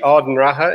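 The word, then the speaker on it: Ard an Rátha: no don't worry because there's plenty of this penny of Irish words that have letters that don't appear that you have to pronounce so so it's actually Arden raha in in Irish which is the height of the fort so there's a fort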